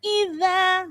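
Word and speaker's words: إِذَا: Wasama idza. Hati-hati pengucapan huruf dha, ujung lidahnya digigit dha. Ya, jangan da. Kalau da nanti seperti dal, tapi ini dzal. Wasama idza, dha digigit ujung lidahnya.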